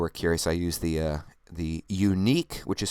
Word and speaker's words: Yuneec: For those of you who are curious, I use the Yuneec, which is spelled Yuneec, Q500, which I'm about to upgrade to a 4K camera, which they just released recently.